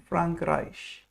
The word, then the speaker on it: Frankreich: we pronounce it's, if whenever A and E are written together, the sound it makes is I, like in Frankreich.